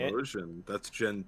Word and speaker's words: Typhlosion: Typhlosion. That's Gen 2. Okay, so basically it's a badger that's on fire, from what I can see. That's right. Okay, cool, not bad. So Evan, I'm gonna draw Typhlosion here.